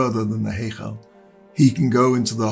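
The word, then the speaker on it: היכל: We don't pronounce a separate Y as in Hey Yechal. Rather, it's a blended vowel sound, Heichal.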